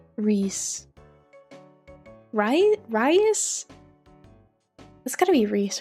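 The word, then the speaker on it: Rhys: It said Reese. R-H-Y-S is Reese.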